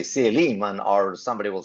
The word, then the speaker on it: Saleem: And I've been saying it correctly, Saleem, right? Yeah, you're right.